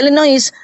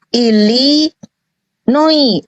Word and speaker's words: Illinois: yang ini Yang dikorupsian kalau illinois jangan baca inois Ili Noi s-nya enggak boleh dibaca ilinoi is Nah kalau ini